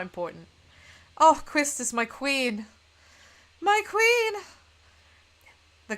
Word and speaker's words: Quistis: The many arguments over how to pronounce that name on the internet, it's probably still going on, but I pronounce it Quistis, and that's how I will be pronouncing it.